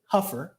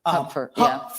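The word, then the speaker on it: Hupfer: Huer earlier um his actually name is actually pronounced Huffer Huffer I just learned that ebony yeah um and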